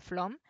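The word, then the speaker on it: Flåm: una noche en flor que se escribe flan bueno es la acompañarlo se pronuncia flor entonces se queda a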